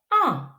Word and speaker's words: ans: Mais quand S est à la fin d'un mot, on ne le prononce pas. Ch. A. Ch. A. Ch. En. En. Elle a 5 ans.